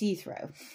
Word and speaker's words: Jethro: but in verse one the gentleman's name who is ethro is spelled Jethro but it's ethro so a little linguistic